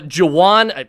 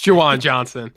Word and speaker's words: Juwan Johnson: converted wide receiver to tight end javon uh jawan if i could it might be even better if i could pronounce his name jajuan johnson mark he's the